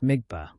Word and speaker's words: dmigspa: He explained it as a dmigspa, pronounced migpa, a mental image which can be built up only by a fully instructed lama through the power of imagination.